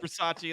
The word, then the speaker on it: Bisaccia: I just called him Rich Bisaccia, and that's definitely not his name, but I love how you do the breakdown on that.